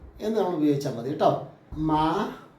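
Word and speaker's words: माँ: മാ എന്നാണ് ശരിക്കും അതിൻ്റെ ഉച്ചാരണം. എന്താണ്? മാ എന്ന് ഉച്ചരിച്ചാൽ മതി. മാ അതിൻ്റെ അർത്ഥം എന്താണ്? അമ്മ എന്നാണ്. മാം എന്ന് എഴുതും, മാ എന്ന് ഉച്ചരിക്കും, അമ്മ എന്നാണ് അർത്ഥം.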